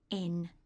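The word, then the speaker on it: 円: currency yen in English but in Japanese it's pronounced n and this is the character that you use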